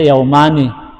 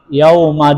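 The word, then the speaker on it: يومَ: Asalnya yaumani. Ya, kenapa 2 hari? Karena di situ yaumani yauma dukhulihi wa yauma khurujihi. Itu. Jadi bukan yauman bacanya di situ, yauma.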